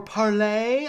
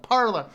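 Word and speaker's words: Parler: it all right um parlor uh or parlay i think they say is the official pronunciation but they've given up and ever just called it parlor uh this is a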